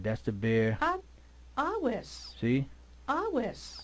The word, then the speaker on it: Aves: See, Aves. awis. That's the classic Latin Aves. classic Latin way of pronouncing awis.